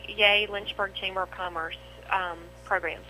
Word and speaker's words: YEA: The Young Entrepreneurs Academy, pronounced YAY, but it's spelled YEA, is a groundbreaking program that transforms middle and high school students into real, confident entrepreneurs.